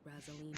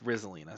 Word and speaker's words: Rizalina: collected intel about Razelina and Tiernan, so the only one left is legwork. It's Rizalina. Say it right.